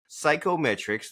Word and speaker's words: CYKOMETRIX: And so you said that your company is Psychometrics. That's spelled C Y Ko M T R I.